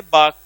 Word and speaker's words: bark: Next sentence dogs, उसके बाद में वर्ब यहाँ पे है बाक, BARK। इसको बोलेंगे तो इसका R साइलेंट हो जाएगा।